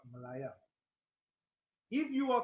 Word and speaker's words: Malaya: High Court of Malaya yes I'm saying it right it's not a typhoon it's not Malaysia it's the icon of Malaya if you are called